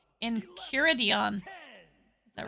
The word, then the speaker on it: Enchiridion: The ch is pronounced k. 12, Enchiridion.